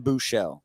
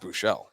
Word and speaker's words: Buechele: Shane Buechele.